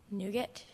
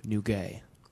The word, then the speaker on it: nougat: i have parapot p let me correct that pronunciation your word is borzoi your word is nougat nougat can i have a definition please a confection